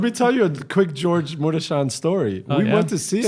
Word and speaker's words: Gheorghe Mureșan: The way I just said it, it's not Mirasan. I'm pronouncing it like a Romanian. His name is Gheorghe Mureșan.